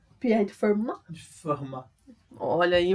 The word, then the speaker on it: Fermat: Na escola Pierre de Fermat, é assim que se pronuncia? Pierre de Fermat? De Fermat.